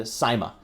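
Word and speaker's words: Syma: right here it's also marketed under the brand Sima or Sima depending on how you pronounce it s y m a it's the X5 c-1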